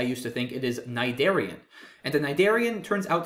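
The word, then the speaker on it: cnidarian: nidian looks especially bizarre because of this silent c at the beginning of the word which is certainly not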